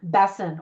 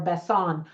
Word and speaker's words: Besson: also co-wrote it with Luke Besson or Besson I've heard his name pronounced both ways anyway here are some